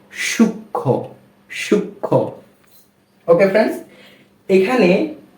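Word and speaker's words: সূক্ষ্ম: যুক্ত ব্যঞ্জন বর্ণের সাথে যেহেতু ম ফলা রয়েছে সেক্ষেত্রে নিয়ম অনুযায়ী এর কোন উচ্চারণ হবে না অর্থাৎ ম এর কোন উচ্চারণ হবে না সেক্ষেত্রে এই শব্দটা কি দাঁড়াবে দন্ত স দীর্ঘকার সু খিয়ো ম ফলা কি হবে সূক্ষ ওকে এরপরে আরেকটা শব্দ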